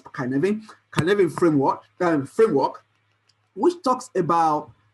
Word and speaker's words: Cynefin: framework, which we call kuh-NEV-in framework. Right? What is kuh-NEV-in framework? I mean, it's called kuh-NEV-in. I mean, it sounds like CY, whatever, but it's a Welsh word, but it's pronounced as kuh-NEV-in.